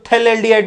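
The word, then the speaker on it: phthalaldehyde: कई लोग कहते हैं कि इसमें पीए साइलेंट रहता है तो थैलेडिहाइड भी लिख सकते हो। बोलने के तरीके की बात कर रहा हूं। लिख नहीं सकते हो। लिखना तो ऐसे ही है। बोल सकते हो थैलेडिहाइड।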